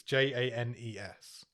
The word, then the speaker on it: Janus: The writer's called Hugh Janus. That's his actual name. I presume it's pronounced Janes. It's Janes. Hugh Janes.